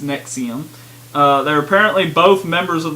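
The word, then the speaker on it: NXIVM: of called nexium but it's spelled NX IVM but it's pronounced nexium they're apparently both members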